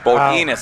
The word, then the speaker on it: Bodinas: Bodinas, that's how you say it.